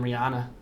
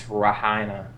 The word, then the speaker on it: Rihanna: I'm mixed between Brennan and Rihanna. That's so hot. Even though apparently that's not how you pronounce Rihanna. It's Rahina. I don't think that's accurate.